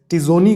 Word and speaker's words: Etzioni: है और एमिटाई जिटोनी, इसको इटोनी टिजोनी पढ़ेंगे, ई साइलेंट है, TZIONI है, स्पेलिंग में फिर से दे रहा हूँ, ETZIONI, टिजोनी।